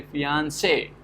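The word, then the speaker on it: fiancé: say is like stress if you have some french speaker they will say fiance okay so say is getting stressed so here you have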